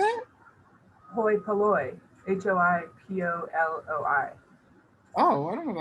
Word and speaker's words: hoi polloi: Hoi polloi.